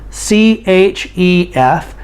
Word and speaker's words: chef: cook or we can say he's a chef c-h-e-f but we pronounce it chef a chef is a professional